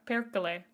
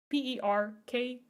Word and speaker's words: perkele: Perkele, I believe. Perkele. I loved learning Finnish. I learned it for a little while. It's spoken entirely phonetically, so it's great. Is there any way to apply for staff? Currently, no. We just added 2 people to our mod team literally today. So, thank you for shaming. Perkele is like, shit, fuck, you know? Spelled with 3 E's, by the way.